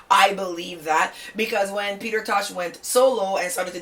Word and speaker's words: Peter Tosh: Number 5, Peter Tosh. Well, that's how people say his name, but it's actually Peter Tosh, right?